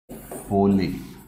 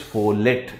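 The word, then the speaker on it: Follett: The next management thinker और philosopher is Mary Parker फोले। Actually the correct pronunciation is फोले, बट इफ यू go with the spelling it इज फोलेट, FOLLET, फोलेट।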